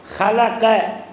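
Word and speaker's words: خلق: வாசிக்கணும் இல்லைன்னா அர்த்தம் மாறிடும் ஹலக்க ஹா வச்சு உச்சரிக்கணும் ஹலக்க அப்படின்னா படைத்தான் என்று அர்த்தம் அந்த ஹேயேல உள்ள மேல இருக்க புள்ளி எடுத்துட்டு ஹலக்க அப்படின்னா சிறைத்தான் என்று அர்த்தம் என்ன அர்த்தம் எவ்வளவு அர்த்தம் மாறுது பார்த்தீங்களா ஒரு புள்ளிதான் ஒரே புள்ளி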